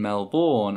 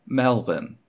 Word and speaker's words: Melbourne: Part of me still can't believe that I called the city of Melbourne, Melbourne, as opposed to, you know, Melbourne.